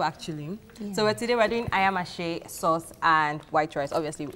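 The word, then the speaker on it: ayamase: Okay, so let's talk about the ingredients for the ayamashi. So I hope I'm pronouncing that correct.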